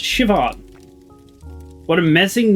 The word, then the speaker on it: Siobhan: Oh, Siobhan. It's pronounced Siobhan.